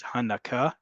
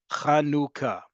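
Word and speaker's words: חנוכה: from Hebrew to English there's only one way to pronounce it in um Hebrew you're going to hear my annual rant that this holiday is not about um breastfeeding or nursing that verb in Hebrew is leik or the act of doing it is hanaka in modern Hebrew instead this holiday is kanuka kanuka we're going to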